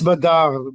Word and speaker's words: Badr: at a caravan at, I guess you pronounce it Badr, Badr. I think there's a vowel missing there, but that's how you spell it, Badr. Well, it's Badar, but go ahead.